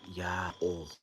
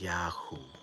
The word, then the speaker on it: YAOH: words in the world, with it just barely mispronounced as Yahoo instead of Yah-oh, because of the misunderstanding that we have that they've hoisted upon us.